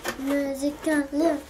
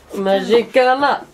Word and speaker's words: Magicalin: Magicalin. Magicalin. So ja, heißt der. Der Teddy heißt tatsächlich so. Ich zeige euch mal die Packung. Oh, und der spricht sich Magicalin aus. Magicalin. Magicalin.